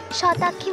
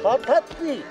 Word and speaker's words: শতাক্ষী: শতাক্ষী । শতাব্দী। শতাক্ষী। ও কি, আমার আসলে আমার উচ্চারণটা ভুল হয়তো।